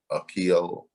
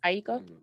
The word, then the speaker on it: Aiko: remade beat of Love and Die from Janae Akio. How you say her name? Aiko.